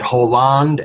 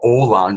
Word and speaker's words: Hollande: and the fact that Hollande and or Hollande, as it's pronounced, and Obama in their